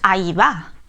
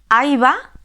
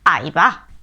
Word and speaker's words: Ahí va: As you can see, it is written "Ahí va", but when pronouncing it we never say "Ahí va", we say "áiba" or "aibá".